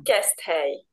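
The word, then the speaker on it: Keszthely: Si chiama Kestei.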